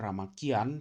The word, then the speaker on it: Ramakien: Mereka nyebut Ramayana menjadi Ramakian, dibacanya Ramakian, cuman kadang-kadang ditulisnya Ramakien atau Ramakin, seperti itu.